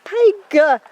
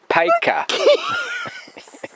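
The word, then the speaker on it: Paika: It's like P-A-I-K. Oh, P-I-K-A. No, P-A-I-K for car. Hey. P-I-K-A. No, P-A-I-K-A. Which is pronounced Peka.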